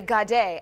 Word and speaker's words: Gade: We have Henny Angelia and guest host Kelly Gade, as in ballet, with us today.